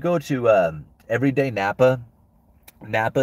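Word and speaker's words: Knappa: to uh everyday Napa Napa is spelled k-n-a-p-p-a every day Napa it's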